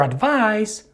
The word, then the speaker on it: advice: with the verb advise the stress in both of these words falls on the second syllable however the last sound of the noun advice is the s sound and the last sound